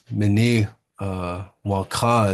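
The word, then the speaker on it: Minnewanka: Mini Wonka is the proper way to say it.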